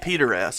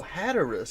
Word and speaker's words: Hatteras: Is that how you say that, Hatteras? Cape Peteras, I think. Hatteras. Peteras. Hatteras. Hatteras? Oh, Hatteras. I thought you were saying it with a P.